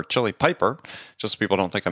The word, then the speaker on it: Chili Piper: president of Chile Piper not chili pepper chili Piper just people don't think